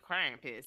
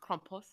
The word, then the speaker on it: Krampus: say Krampus, but it's actually pronounced Krampus. So they like more of like a kh.